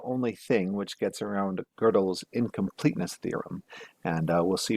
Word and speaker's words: Gödel: I keep on saying Gödel. It's actually pronounced Gödel, and I know that.